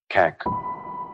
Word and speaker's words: CAK: Kek. One syllable.